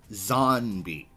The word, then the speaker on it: zonbi: AKA, like the word zombie, which was originally pronounced Zonbi.